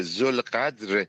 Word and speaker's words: Zolghadr: Son nom, la prononciation de son nom ça est un peu compliqué. Il s'appelle Zolgadr.